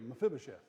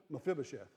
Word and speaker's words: Mephibosheth: on come on come on there you go mephibosheth say it just say it fast it rolls right out mephibosheth the whole reason I know how to say